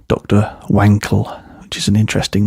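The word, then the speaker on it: Wankel: Wankl which is an interesting name or Wankl if you're German. So that's how you would pronounce it cuz a W in German is pronounced as a V.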